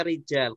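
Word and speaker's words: رجال: Roja lu bukannya ya pasti itu bacanya Rizal karena ada alifnya Iya itu bedanya antara rojulun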